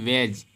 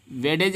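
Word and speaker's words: wedge: इसके बाद आपका है वेज। वेज मीन्स होता है कील। क्या होता है, कील। वेडेज नहीं पढ़ेंगे, डी को साइलेंट पढ़ेंगे, क्योंकि जी के पहले अगर डी आया है तो डी को साइलेंट रखेंगे।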